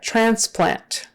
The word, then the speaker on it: transplant: therapy therapy all right transplant transplant transplant that's pretty straightforward I think transplant but anyway the the accent is on the first syllable transplant ultrasound ultrasound that